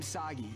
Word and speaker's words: Sagi: This is kind of overdue, but I'm Sagi. Rhymes with Saki.